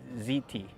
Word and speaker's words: hti: they call that a ziti or something like that it's called it's spelled HTI but they pronounce it ziti and I guess it